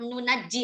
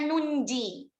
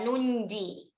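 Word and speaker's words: نُنجِي: Nanja apa nunaji atau apa gitu. Nah, itu bacanya nunji. Ya, nunji.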